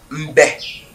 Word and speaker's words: Yitembe: En fait, on prononce ça Yitembe.